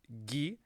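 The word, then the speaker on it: ぎ: we would write it gi as in gift and that's the only way we pronounce it this character is pronounced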